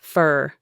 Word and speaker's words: for: The four becomes fur.